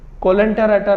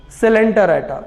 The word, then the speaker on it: Coelenterata: Coelenterata नहीं है ये, it is pronounced as Coelenterata, which is the second phylum after Porifera if you go by sequence in kingdom Animalia, lower animals.